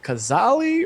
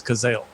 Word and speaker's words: Cazale: much i was like is it kazali or then i actually looked up the pronunciation so it is kazel he's the only i